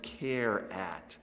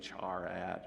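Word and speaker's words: charAt: string there's a method known as care at or you might pronounce it differently char at or so care at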